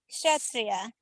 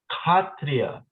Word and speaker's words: Kshatriya: And if you want to do a Bengali way of saying it, not a Sanskrit way of saying it, you say Kshatriya. Kshatriya? Kshatriya. That's how Prabhupada Kshatriya. would pronounce it, because Prabhupada is pronouncing it in the Bengali fashion. Interesting. So Kshatriya is the Bengali version and Kshatriya is the Sanskrit.